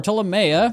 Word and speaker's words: Ptolomea: As we are going into the fifth door, Tamea, I think that's how you say it. I'm assuming the P is silent, like pterodactyl.